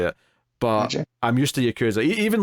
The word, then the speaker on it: Yakuza: in the Yakuza right I always say Yakuza I'm trying to train myself to say Yakuza cuz it's actually the that's the actual pronunciation I think it is